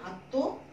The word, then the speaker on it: আত্ম: তাহলে এখানে দেখো, আমি যখন আত্ম লিখলাম, যখন এটা মফলা, এখন আত্ম, দেখো আত্ম হয়ে গেল, ওই আমরা মটাকে উচ্চারণ করব না, তটাকে দুইবার উচ্চারণ করব এবং শেষ ধ্বনিতে চন্দ্রবিন্দু লাগিয়ে দিব।